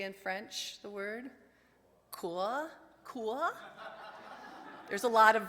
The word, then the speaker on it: cœur: The French word for heart is, and I'm going to pronounce it wrong, cœur. Somebody say in French the word cœur.